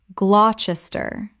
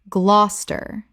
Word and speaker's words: Gloucester: Gloucester Common mispronunciation: Glou-ches-ter Correct pronunciation. Glos-ter. Two syllables only. The middle syllables disappear completely. Example.